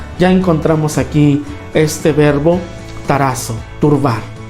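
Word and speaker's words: ταράσσω: Fíjense, el verbo que utiliza el evangelista es el verbo griego que se pronuncia así, tarazo, ¿no?, que significa justamente turbar.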